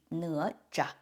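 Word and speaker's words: 哪吒: The proper pronunciation of his name in Mandarin would be Ne Zha.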